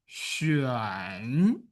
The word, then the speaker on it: xuan: Next one is xi, yu, an, third tone. Xuan.